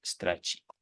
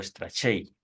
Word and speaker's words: Strachey: James Strachey, o Strachey, como gusten pronunciarlo.